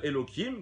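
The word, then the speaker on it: Elohim: aujourd'hui le nom de Elokim qui se dit évidemment Elo après him mais pour pas le prononcer on dit Elokim et bien écrit c'est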